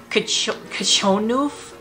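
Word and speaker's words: Krzczonów: She has the pronunciation Kachonuf pisanki. Kachonuf. So KRZCZONOW is Kachonuf pisanki.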